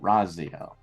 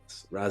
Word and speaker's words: Raziel: Spell that out. All right. So not Raphael, but Raziel. Raziel.